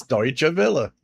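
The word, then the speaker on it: Deutsche Welle: The H1A says you pronounced Deutsche Villa. 100% correct. Amazing. It's Deutsche Villa.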